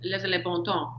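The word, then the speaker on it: les bons temps: The end is silent and bon, so it's les bon temps.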